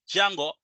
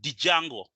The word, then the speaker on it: Django: why I'm calling it Django and I'm not pronouncing the word d most some of you may call it dijango hey that's kind of weird the D is silent it's called Django so pip install Django